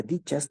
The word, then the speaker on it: ditas: Ditas o dichas, se pronuncia dichas tal cual, maldichas, en portugués, permanecen mal dichas, malditas, ¿sí?